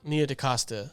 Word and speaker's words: Nia DaCosta: Nia DaCosta.